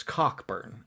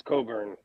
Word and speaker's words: Cockburn: You pronounced it wrong. No, it's Cockburn. Okay. Is it? I thought it was Coburn.